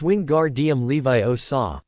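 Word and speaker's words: Wingardium Leviosa: It's wing guard. Levi o saw. Make the gar nice and long.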